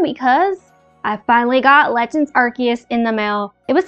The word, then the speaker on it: Arceus: Look at Arceus. Or Arceus, however people want to pronounce it. I pronounced it Arceus because that's how they pronounce it in the Pokemon Arceus movie, but whatever.